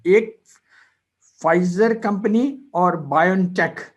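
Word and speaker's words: Pfizer: एक फाइजर company और BioNTech, ये इन दोनों ने मिलकर एक वैक्सीन बनाई है। ये आप देख लीजिए, यहाँ पे लिखा हुआ है वैक्सीन कोविड-19 फाइजर, ये पी साइलेंट होता है, फाइजर बायोनटेक।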